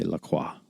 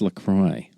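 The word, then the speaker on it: LaCroix: lately around Lacroy because I like to say Laqua just because it's silly. But people get incensed when you when you say it wrong. They're like, "What? It's Lacroy."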